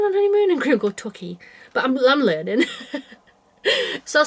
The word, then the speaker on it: Torquay: And Graham go, Torquay.